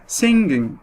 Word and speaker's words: singing: ففضلت زي ما هي singing. تكاد الجي لا تنطق.